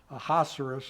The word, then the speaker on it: Ahasuerus: It's mentioned in the scripture as this Ahasuerus. Ahasuerus. Ahasuerus, I guess, is how you pronounce it.